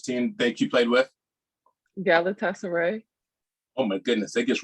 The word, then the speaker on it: Galatasaray: Hey, just how do you pronounce that Turkish team that you played with? Galatasaray.